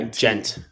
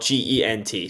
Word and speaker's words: Gent: Ghent in Dutch is spelled Gent. So in Dutch, it's not that there's no H. The pronunciation is similar to the English gent, but slightly different emphasis on the E sound.